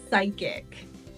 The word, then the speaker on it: psychic: purple peppers and peas sometimes the PE is silent and that happens in words that begin with Psy for example psychic or psychiatry or psychiatric the psychiatrist was psyched to